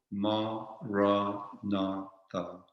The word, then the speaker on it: Maranatha: So we could say it like this, for example, Ma-ra-na-tha, Ma-ra-na-tha.